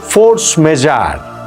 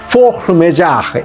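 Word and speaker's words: force majeure: যেইটাকে বলা হচ্ছে ফোর্স মেজার। ইংরেজিতে ফোর্স মেজার। কিন্তু আসলে এটা ফ্রেঞ্চ শব্দ তো ফ্রেঞ্চ উচ্চারণ করাটা বড্ড কঠিন। আমি দেখলাম সবচেয়ে কাছাকাছি বোধহয় ফোক মেজাহ এই টাইপের কিছু একটা উচ্চারণ হবে।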